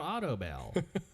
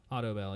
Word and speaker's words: Audibel: do you have trouble hearing come check out auto bell auto bell hearing is the latest and greatest